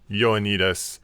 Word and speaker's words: Ioannidis: It's pronounced Y, I think, Y-O, like Ioannidis. Ioannidis.